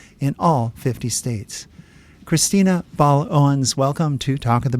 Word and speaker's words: Baal-Owens: all 50 states Christina B Owens welcome to talk of the bay thanks Len for having me and am I pronouncing your last name correctly yes you are actually that's uh gold